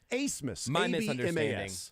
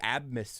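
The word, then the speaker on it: Abmas: you do that but pronouncing a b as an S nope can't do it I'm not gonna do it that's asimus I'm a big Max abness fan love abness you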